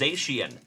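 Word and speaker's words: Zacian: That's Oh, it's pronounced Zashian. Thank you so much. That deep sea fish Zian that has like the little light in front of its head.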